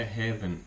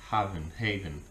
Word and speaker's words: Haven: Não é Heaven igual céu, como se pronuncia em inglês, mas sem o E. Haven, que para mim já foi um sinal.